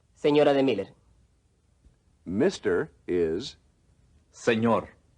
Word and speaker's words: señor: is, Señor, the N with the tilde in señor, is much like the sound produced when the words can and you are pronounced together. Can you?